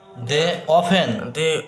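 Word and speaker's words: often: reading পড় friend same village আফটার আফেন অফেন অফেন অফেন ও এফটিন এর পরে যেটি আছে সেটি এর উচ্চারণ হবে না উচ্চারণ হবে না শুধু হবে কি অফেনপেন্ট করে টাইম টুগেদার ওয়ান ডে ওার গোং থ্রোস্ট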